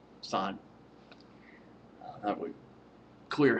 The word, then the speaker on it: Assange: It's Assange. Assange. That would clear how you pronounce it.